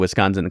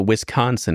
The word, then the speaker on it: Wisconsin: say Wisconsin sure yeah it's a little too much emphasis on the con you know that's what